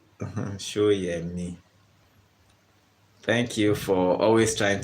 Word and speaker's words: Soyemi: So Shoyemi. That's the pronunciation. Not so. It's show, as in show. Shoyemi.